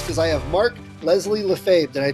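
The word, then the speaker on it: Lefebvre: the word smith because i have mark leslie lafave did i pronounce that correctly you got that that's amazing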